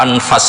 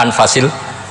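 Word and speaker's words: أنفس: Di sini tertulis sebagai " anfusil kutub." Namun saya membacanya sebagai " anfasil kutub" karena artinya buku-buku terbaik. Jika yang dimaksud adalah buku-buku terbaik, seharusnya tidak dibaca sebagai "anfus," tetapi apa maksudnya? Anfas.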